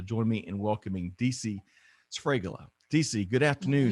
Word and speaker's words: Sfregola: It's three regardless, consonants all together, and you have to roll the R. Sfregola.